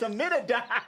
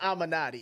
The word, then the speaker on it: Amenadi: It's Amenadi. Hey, my man. Anyway, yeah, it's Amenadi. It's not Amanati. It's Amenadi, how they pronounce it, right?